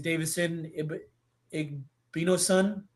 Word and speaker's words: Davison Igbinosun: I don't know if you saw it, but one of Ohio State's starting DBs is Davison Igbinosun.